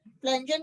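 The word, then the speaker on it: Pflanzen: like an फजल फजन फजन की spelling बोल रही हूं पी साइलेंट है पी एफ एल ए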